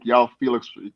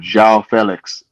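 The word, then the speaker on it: João Félix: But we can all agree that when Yao Felix, I'm saying his name wrong every time, João Felix. Yeah, Zhao.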